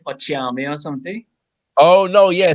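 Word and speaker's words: okyeame: But the KY is pronounced Ch as in Tree, and Ochiame is a title for a spokesperson.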